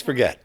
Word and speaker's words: Forget Road: very impressed yeah do do you pronounce it forget Road or is it forget it is forget do we know the